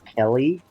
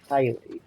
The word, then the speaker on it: Kylie: That's not Kelly. I'm pretty sure it's pronounced Kylie or Oh, sorry, Kylie.